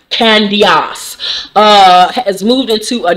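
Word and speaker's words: Candiace: candios because you know candice spells her name c-a-n-d-i-a-c-e i don't know why that guy is in there so her name is technically pronounced candios uh has moved into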